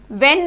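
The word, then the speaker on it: when: वेन में WEN, वेन की आवाज आ रही है, इसमें जो H है वो हमारा साइलेंट है।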